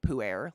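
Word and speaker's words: pu-erh: um it's literally the tea type is called poo air like like air but it's spelt i don't even know anymore it's called poo air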